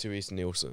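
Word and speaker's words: Terese Nielsen: uh magically Gathering artist is I want to pronounce her name correct is it theres neelson it is in fact theres neelson yeah uh she the best way I can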